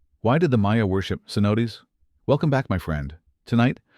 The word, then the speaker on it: cenote: Cenote pronounced cenote.